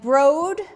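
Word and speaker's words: Broad: But Brode has donated over $100 million to his alma mater, Michigan State, and Brode, which he says rhymes with road, and here's his name down here, the Brode Art Museum.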